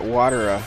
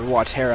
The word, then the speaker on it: Watera: Just because, yeah, finally we got Watera, or Watera, I don't know how you pronounce it. I always say Watera because it's water, it's not Watera, but H.C. Bailey says Watera, which is so weird.